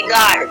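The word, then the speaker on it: guard: तो एग्जांपल से यहाँ पे जी यू ए आर डी, गार्ड, ठीक है।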